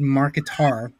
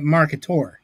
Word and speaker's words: Marketaur: this monster oh God first John said Mark guitar oh I think he meant leivenberg I was like here we go again no no no no no no no I've established that Mr will liebenberg we've got that on walk thank you it's I'm pronouncing it marketor like a dinosaur yeah that's the correct way yeah okay but I